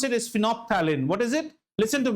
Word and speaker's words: phenolphthalein: The third one is known as, when I pronounce it, is phenolphthalein.